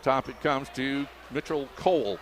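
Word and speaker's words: Koole: Up top it comes to Mitchell Cole. K-O-O-L-E. They pronounce it Cole.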